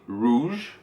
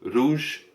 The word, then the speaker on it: rouge: Utilisez la prononciation anglaise du R en français, donc ça va donner rouge. Rouge. Voilà, c'est pas rouge, c'est rouge.